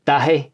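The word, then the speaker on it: Dáithí: It's Gaelic, so it's not the easiest to pronounce. It's Dahi. Yeah. But David is the English version, so that's pretty handy. It just sounds a bit more... David, Davo, whatever you want it. Yeah. But Dahi is a wee bit of a sticker, so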